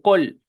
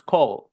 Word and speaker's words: call: Vamos a aprender a hacerla, porque no se dice col, it's call, no col, de colmena, right?